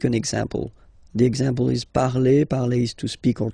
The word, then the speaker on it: parle: And then the way to pronounce it is je parle, parle. So remember, we put it, okay, but then we don't really pronounce it.